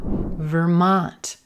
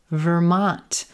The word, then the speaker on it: Vermont: Vermont, Vermont. Olive sock, Vermont. Again, no stressed syllables, or I'm sorry, not a schwa here, but our first syllable, ver, ver, ver, an unstressed purple shirt, ver, ver, Vermont, Vermont.